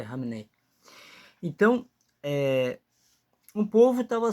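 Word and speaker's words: Khamenei: fizeram operação lá em no Irã e acabaram batendo o líder supremo, o o ali Camnei Hamnei, né? pronúncia certo é Ramnei.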